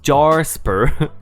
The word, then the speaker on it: Jasper: We will call them Jasper, pronounced Jarsper, also posh, and Anne, who also looks so done with Tiffany BS.